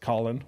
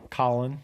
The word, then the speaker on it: Colon: I have a friend whose name is spelled colon, but it's pronounced Colin. Colin. But I call him colon.